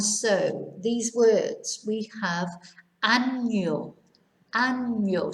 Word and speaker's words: año: And so these words, we have año, año. So it sounds like it's A-N-Y-O, not ano, which means something completely different.